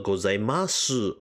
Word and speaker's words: gozaimasu: pronounce the Su or do you pronounce it as silent in fact both authentically correct and there is no correct way of saying both are wrong or right there are some Japanese